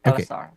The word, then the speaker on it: Elsar: You pronounce it perfect. Elsar.